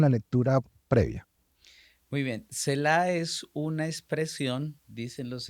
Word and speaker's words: Selah: De hecho, lo estoy pronunciando bien, Selah.